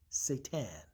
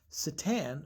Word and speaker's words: seitan: I want to pronounce it different because y'all keep saying Satan.